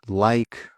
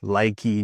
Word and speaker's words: like: Like. Ride. Silent E. Okay, not ridey, likey, namey. Hope, name, like, ride.